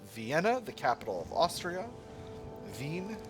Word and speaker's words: Wien: Vin, how it's pronounced in uh, German.